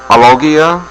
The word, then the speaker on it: alogia: That's called alogia.